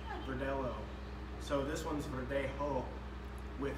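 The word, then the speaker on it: Verdelho: And that one's spelled with a L-H-O, Verdelo, Verdelo.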